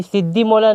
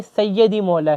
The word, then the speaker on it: सैयदी मौला: ये सिद्दी मौला नहीं है, ये सैयदी मौला है यहाँ पर, ठीक है।